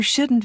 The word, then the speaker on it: shouldn't: Notice how the T in can't and shouldn't is not strongly pronounced.